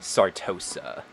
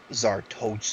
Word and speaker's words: Sartosa: do you pronounce it sartosa zartoza all right so zarto so this is a star dose there's no z it's just star oh okay so sartosa yeah there you go